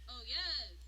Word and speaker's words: Oyez: This is how you pronounce it. Oh yes, oh yes, oh yes.